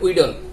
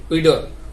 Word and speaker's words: wheedle: Wheat শব্দের অর্থ হচ্ছে গম, এসটা অনুচ্চারিত, এটা উচ্চারণ হবে না। এরপর আর দিতে পারে উইডল, WHEEDLE, উইডল।